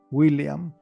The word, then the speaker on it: William: pronuncian de manera fluida, William. El nombre William tiene una doble L, pero esa doble L no se pronuncia como en el español.